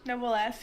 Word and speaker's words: Noblesse: I don't know how to pronounce it. Is it Noblesse? Noblesse? Yes, Noblesse, yeah.